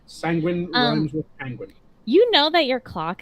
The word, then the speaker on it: Sanguine: probably gonna mispronounce that or not penguin that's the easiest way to remember sanguine you know that your